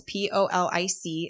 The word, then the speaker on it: Polic: So that's Polic. It's definitely, it should be like a Pollock or something, but it's a soft C there.